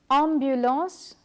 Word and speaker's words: ambulance: For example, ambulance, jambon, lampe. Therefore, the following letter combination AN and AM have the same ah sound.